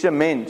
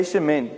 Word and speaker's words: shemen: It's shemen. Say shemen.